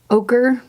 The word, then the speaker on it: ochre: you can see it it's called golden ochre that's how you say that word it's spelled kind of strange but that's how you do it and we're gonna put